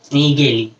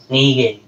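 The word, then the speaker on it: Nägeli: Chromosome was first discovered by scientist named Carl Wilhelm von Nageli. Okay? A के ऊपर दो dots है, German word है, A umlaut बोलते हैं, pronounce as A. A, E, A. Okay? Carl Wilhelm von Nageli.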